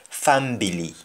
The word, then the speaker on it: fambili: and in family and in english we say family but in jamaica and the word family is pronounced as fambili fambili is for himself